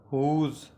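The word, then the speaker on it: whose: की माना है कैसे हुज हुज की माना है किसका हुज की माना होगी किसका इसमें जो डब्लू व साइलेंट हो जाएगा और उसको इस तरह हम पढ़ेंगे हुज हुज की माना है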